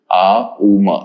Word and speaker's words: Om: Now remember, Om as a word needs to have 3 syllables, Uma.